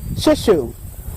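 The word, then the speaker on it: shiso: It's called, the name they use it, call it under is shishu. It's spelled S-H-I-S-O. If you go to an Asian market and ask them for shishu, this is the plant that they'll use.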